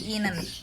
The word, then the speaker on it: Ihnen: I-nya juga nggak dipakai jadi Ihnen.